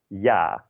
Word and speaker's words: ja: And yes in Dutch is ja, J-A, ja.